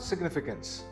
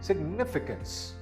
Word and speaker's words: significance: This word is not significance, it is significance. The second syllable is stressed.